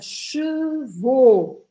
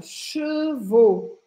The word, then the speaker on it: chevaux: Quando eu ponho o O no final, que na verdade se escreve A ou X, mas a gente fala O, isso são cavalos no plural. Então a gente precisa marcar bem essa diferença.